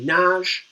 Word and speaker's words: Nagy: 5 is Imre Nagy, though it's spelled Nagy.